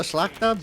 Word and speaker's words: Szlachta: I call it the Szlachta, but that might not be perfect Polish.